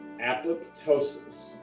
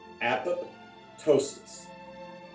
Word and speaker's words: apoptosis: often by many people think of it as two words you say apple like apple and then toast but it's not ptosis ptosis apoptosis most people do not